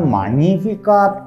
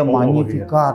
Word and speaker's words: Magnificat: Lalu bacanya Magnificat. Latin kan G-nya nggak kebaca ya, Magnificat.